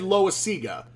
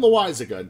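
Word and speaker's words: Loáisiga: pronounce and it's because one time i said lois sega and i don't know why but it's jonathan lewis a good cat loves to remind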